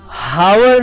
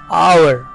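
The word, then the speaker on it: hour: और last word है हावर लिखा हुआ है लेकिन उसमें जो H है वो साइलेंट होता है, इसलिए H की बिल्कुल भी आवाज नहीं आएगी और उसे हम पढ़ेंगे आवर। आवर ये टाइम बताने के लिए जो हम कहते हैं घंटा, तो उसमें आपको ध्यान रखना रहेगा हावर नहीं पढ़ते बल्कि वो आवर होता है, H उसमें साइलेंट है।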